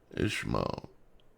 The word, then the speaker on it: Ishmael: Ishmael. Ishmael is the way it's pronounced.